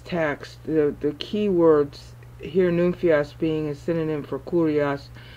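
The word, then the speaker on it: νυμφίος: The very first use of the word nymphios, which is actually two syllables in the Greek, in Matthew 25, is at the point in the meter where it would be 17, 18, and 19.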